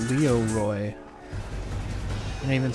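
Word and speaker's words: Leeroy: times it's a classic it's not even Leroy it's Leo Roy I didn't even spell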